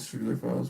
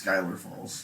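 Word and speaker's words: Schuyler Falls: What I've do you- never heard it called Schuler Falls, but No. could be. I have a couple of times. It's Skylar Falls.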